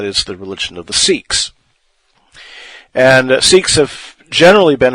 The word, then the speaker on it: Sikhs: and that is the Sikhs. The Sikhs, or Sikhs, sometimes it is pronounced, but if I said 6, you would think I was saying the number, and that's a little confusing.